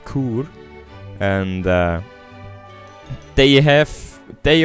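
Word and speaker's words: Chur: I don't know how to pronounce it in English. In English, in ch in German it is Kur.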